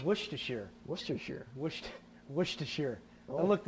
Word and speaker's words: Worcestershire: It's Worcestershire. Worcestershire. Worcestershire. I Oh. looked it up online. Did you? How to pronounce it.